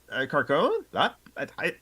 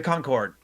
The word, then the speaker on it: Concorde: perspective is a framed picture of the car Carcone. My dyslexic brain cannot process how to pronounce that correctly. The Um, Concord. the Concorde.